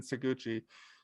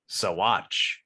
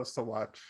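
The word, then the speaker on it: Saguache: Meanwhile, Cabazon, whose voice is still high-pitched and wants revenge against Packer for their fight in Saguchi, states the townfolk came to see bloodshed and tries to trigger the gallows.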